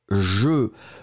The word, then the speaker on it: jeux: une autre catégorie maintenant un jeu des jeux le x finale n'est pas prononcé mais vous devrez le